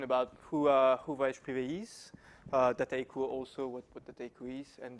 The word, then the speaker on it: Dataiku: So Dataiku is a French company. Always difficult to pronounce that name for English people. So it's Dataiku, but you can say Dataiku. It's fine as well.